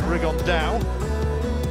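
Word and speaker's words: Rigondeaux: And Tete's talked about fighting Rigondo, or as he's correctly pronounced with the Spanish accent, Rigondao.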